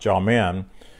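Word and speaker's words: jamin: faith and it's gentlemen j-a-m-i-n pronounced jaw-men and that translates hand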